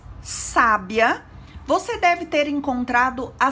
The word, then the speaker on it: sábia: E quando pronunciamos sábia, percebemos o acento agudo na letra A, que segue o S. Então, a pronúncia de cada uma das palavras se torna diferente.